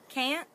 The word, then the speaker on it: can't: so that's the difference can't short abrupt don't pronounce that T it's kind of like you almost pronounce it but then you stop I can't and then